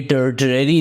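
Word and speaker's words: tertiary: जैसे मैंने पहले भी आपको बताया था कि ये टर्शरी नहीं है, टर्शरी है। टर्शरी आर साइलेंट है, और टर्शरी इंडस्ट्रीज़ कौन सी होती है?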